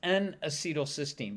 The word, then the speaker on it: N-acetylcysteine: So let's talk about NAC first, and that's pronounced N-acetylcysteine, but we're going to call it NAC for now.